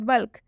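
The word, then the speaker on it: bulk: बल्क, बल्क में देख सकते हैं के से पहले एल आया है, लेकिन इस एल का उच्चारण यहाँ पे हो रहा है, क्यों हो रहा है, क्योंकि ये एक्सेप्शन में है। बल्क मतलब होता है थोक।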